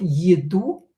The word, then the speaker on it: еду: Еду. Е not stressed. Pronounce as и.